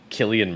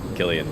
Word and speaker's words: Cillian: down here foreign Murphy It's pronounced Killian Murphy oh is it I've never heard anyone actually say it Gillian Murphy why don't they put a k there it was Brown's Killian should be spelled with a K I don't